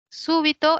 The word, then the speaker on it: súbito: No ya muy bien súbito es una palabra esdrújula quiere decir que la mayor fuerza de voz está en la antepenúltima he tildado súbito por